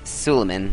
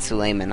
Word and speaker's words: Suleiman: as the aztecs and slaymon of the ottomans i think it's suleiman not sulaiman i keep pronouncing it wrong but so basically if